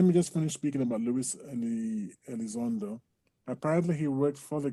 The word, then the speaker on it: Elizondo: Is it, how do you pronounce his name? Luis Elizondo. Elizondo.